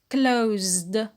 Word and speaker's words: closed: So close in the past is closed. Closed. How many syllable? One syllable. Yes. And the ed is pronounced only de.